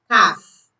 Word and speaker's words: calf: L is silent before words, especially before D or F. Examples: could, should, calf, have.